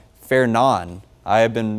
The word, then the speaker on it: Fernand: I've been doing some digging and watching other meteorologists and National Weather Service employees pronounce it as Fernan. So obviously it looks like Fernand. The D is silent.